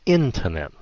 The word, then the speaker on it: internet: nhìn vô trên này đa số các bạn phát âm là internet r Tại vì nó không có cái dấu rồi internet thì thật ra nó là internet Nó là internet nhấn âm đầu Internet vậ thô yeah